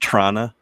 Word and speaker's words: Toronto: There was also a guy in Toronto who ran over a bunch of It's people. pronounced Trana. Toronto? Toronto. Toronto.